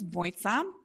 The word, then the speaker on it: Mojca: um my name is voisa um try to like how to remember the pronunciation um my friend once said that it's a combination of moist and pizza which sounds disgusting but